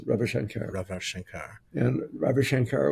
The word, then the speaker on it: Ravi Shankar: So it's not Ravi Shankar. That's not how you say it. Yes, Ravi Shankar.